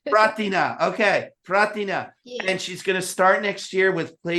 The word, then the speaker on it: Prarthana: Am I pronouncing that right, Greshma? Kind of, Prarthana. Prarthana, okay, Prarthana.